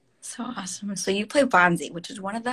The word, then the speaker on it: Banzai: and so yeah yeah Bonsai is is the most fun I I apologize I think I pronounced your character's name wrong pre previously but but Bonzi and all the you're